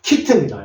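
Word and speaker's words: kitten: 내시고 자 요거 니입니다 자 그래서 tten이 나오면은 맨 뒤에 ttn이 나오면은 요거는 턴이라고 읽어 주시라고 제가 이렇게 밑줄 쳐 놨습니다 키튼이 해요 키튼 새끼 고양이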